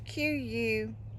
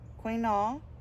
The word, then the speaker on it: quinoa: It's Quinoa.